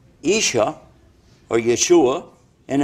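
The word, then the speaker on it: ישוע: the word Issa his name in Hebrew is pronounced Isha or Yeshua and it's Isa in Arabic and the reason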